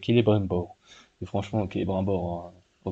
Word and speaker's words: Celebrimbor: bien vous prononcez Celebrimbor, ou bien vous prononcez comme Tolkien voulait les C en K, et donc ça fait Celebrimbor.